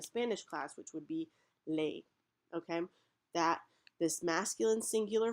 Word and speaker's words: les: masculine and feminine and this word is pronounced lay so that's why it's